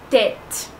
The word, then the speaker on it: tête: Sur E, l'accent circonflexe, il est prononcé de la même manière que l'accent grave. Par exemple, tête, tête. Vous voyez, c'est prononcé la même chose.